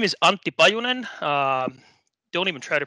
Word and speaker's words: Antti Pajunen: 45 minutes to go so my name is auntie by Onan don't even try to pronounce that name if you're not finish that